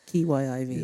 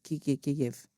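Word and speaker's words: Kyiv: were very, very intent on calling it this Kiyiv. Yeah. Yes, Kiev. I don't know how you pronounce it.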